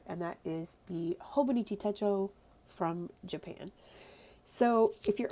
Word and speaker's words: Techo: That word is pronounced Techo. In Japan, when you use it as Techo, not Techo, it means planner notebook.